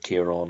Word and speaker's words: Ciarán: It's a feature of Northern Irish that we don't put sort of emphasis on this second, or sorry, this final syllable. Um, but that Southern Irish does do that.